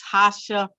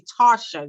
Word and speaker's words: Tarsha: I have with me Tasha. And you know what? I always get a name wrong. She always wants to kill me about it, but it's actually Tarsha, y'all. So with the R, all right?